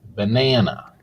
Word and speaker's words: banana: Banana has three syllables. Banana. Banana. The stress is on the second syllable. So the second syllable will be longer, louder, and a little bit higher.